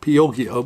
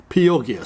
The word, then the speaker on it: Pioggia: he told me that my pronunciation of pioge was wrong and it should be pronounced pieogia so i do apologize for